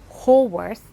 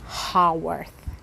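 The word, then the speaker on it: Haworth: me understand this that when I pronounced holworth that was actually not correct it's supposed to be hearth so that's where the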